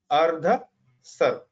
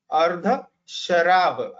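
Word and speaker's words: अर्धशराव: वो है कुड़व, या दूसरा उसका पर्यायी नाम है अर्ध सर्व, ठीक है, यानी अर्ध शराब, ऐसा उसका खरतर एक्चुअली उसका उच्चारण करना चाहिए।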